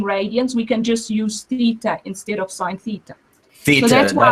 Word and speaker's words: theta: If theta is in radians, we can just use theta instead of sine theta. Theta, so that's how you say it, theta, not theta.